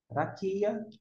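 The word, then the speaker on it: רקיע: Não vai alterar a pronúncia porque o ai, como eu disse, também não tem som. Raquia. Raquia, firmamento.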